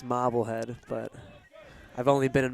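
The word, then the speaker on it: Marblehead: a marble head Mass I believe it's pronounced mobble head but I've only been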